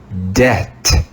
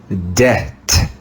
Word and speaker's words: debt: this is the word debt debt debt you can hear that the b is silent debt debt this is an